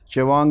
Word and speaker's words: Chewang: Chewang is good pronunciation?